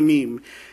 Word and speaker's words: meme: So he just said, well, I want it to rhyme with gene, and the Greek word mimeme actually means to imitate or to borrow. So he thought, I'm going to call it a meme.